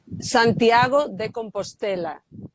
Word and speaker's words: Santiago de Compostela: Can you just pronounce it for me? Santiago de Compostela.